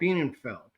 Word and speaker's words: Bienenfeld: Bienenfeld.